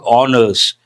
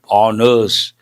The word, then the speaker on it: honors: And National Film Awards Shah Ruk Khan Uruashi bag honors. There's one important word here. What is that? Honors. Usually people say honors. No horse sound. H is silent.